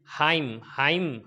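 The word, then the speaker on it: hymn: इसी तरीके से हाइम, हाइम के अंदर एन साइलेंट हो गया।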